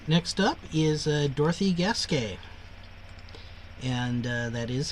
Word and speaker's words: Gasquet: All right, next up is Dorothy Gasquet. And that is how you pronounce her name, or at least roughly equivalent.